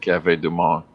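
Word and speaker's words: Café du Monde: Is that how I pronounce it, Anthony? That's it, Cafe Du Monde.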